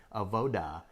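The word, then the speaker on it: avodah: this concept that we're going to discuss today, AVODA, and worship and service.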